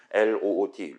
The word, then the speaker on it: LOOT: 그다음에 지금 압축 파일 올려 놓은 거 이제 임포트해 가지고 우리가 사용할 게임 제작용 라이브러리인 LOOT 저는 루트라고 발음을 할 거예요.요 요 친구를 같이 한번 구경을 해 보도록 할게요.